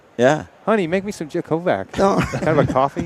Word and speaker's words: Jakovac: Jakovic.